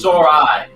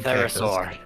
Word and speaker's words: thesauri: I cannot pronounce that word. I would not even- Thesauri. Not a fucking Therosaur.